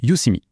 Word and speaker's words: Youseeme: Et petite précision qui a son importance, ça se prononce Udemy.